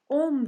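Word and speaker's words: ohm: on olarak kabul edilir on diye okunur arkadaşlar on dur şöyle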